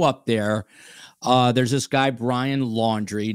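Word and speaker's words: Laundrie: There's this guy, Brian Laundry, not spelled like laundry, but close enough.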